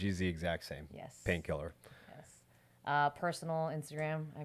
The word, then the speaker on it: Painkllr: the exact same yes painkiller yes uh personal Instagram I mean if you want to follow me it's painkiller spelled the same way p a i n k l LR and then my name